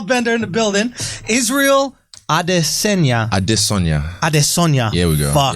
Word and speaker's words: Adesanya: Like Yoruba, you have to sing the tone. It's a tonal language, so you have to sing it. Adesanya. Here we go. Yeah. Adesanya.